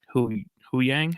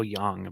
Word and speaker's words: Huyang: Kalani, Admiral Yularen, Huyang, right? Mm-hmm. That's how you pronounce it. I always want to go Yang, but that. It's Huyang.